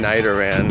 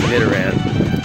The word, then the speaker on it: Nidoran: Pokemon Go career that I am saying Nidoran incorrectly. I was saying Nidoran, and a lot of people are like, Jonno, say it right or pay the price. Alright, so I no longer want to pay the price, so I'm going to say it right. It is Nidoran.